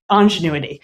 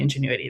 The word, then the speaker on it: ingenuity: When we started designing this, I kept saying "ongenuity" and I was very confident this is why you need stakeholder input. Because the stakeholders on my team then gently took me aside and said, "that’s not how you say it."